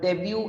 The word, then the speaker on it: debut: it is t no here the t is absolutely silent it is like the